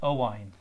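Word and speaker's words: Owain: too can I ask your name chatty man Oh wine is my name this is Allison yeah oh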